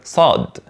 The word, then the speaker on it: صاد: at the beginning let's start with the letter Sode Sode and its sound is let me tell